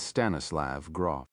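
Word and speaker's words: Stanislav Grof: His name is Stannislav Gr. In some pronunciations, his first and last names rhyme.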